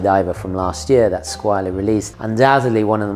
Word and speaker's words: Squale: Squale, or should I say Squale, if you want to pronounce it correctly in French, sono italiano, che vuoi?